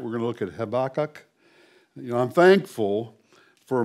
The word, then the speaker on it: Habakkuk: And in Hebrew, Habakkuk is pronounced Habakkuk. Habakkuk. I knew I was going to mess it up, and I did there. I had to say it twice. Habakkuk. Okay? That last U is long.